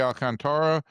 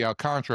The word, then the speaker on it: Alcantara: They needed a win because they were going to face Sandy Alcantara and uh Sandy Alcantra, I should say. I always mess up the pronunciation.